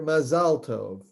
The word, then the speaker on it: Mazal Tov: In Israel, you would hear Mazal Tov because Mazal Tov is Hebrew, Mazel Tov is Yiddish. Okay. It's a Yiddish Ashkenazic pronunciation.